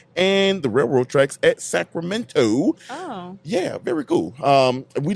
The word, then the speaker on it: Sacramento: Sacramento. Ain't no T in it. It's just minnow, like Elemento.